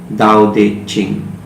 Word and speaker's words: Tao Te Ching: He stayed there in that hut, and that's where he composed the most beautiful work, Tao Te Ching. Because in Chinese language, T is pronounced as D.